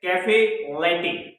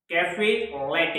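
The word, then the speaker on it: caffè latte: क्योंकि इसका नेम है कैफे लैटे। कैफे लैटे। देखो, इसको बनाने के लिए आपको ब्लैक कॉफी ले, उसमें 3 गुना दूध मिलाएं, स्वाद अनुसार चीनी मिलाएं और आपकी तैयार हो जाएगी कैफे लैटे।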